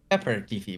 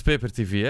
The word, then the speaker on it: Peper: me paper sometimes wrong sometimes people pronounce it wrong and they say pepper tv but it's paper it's paper tv yeah that's what i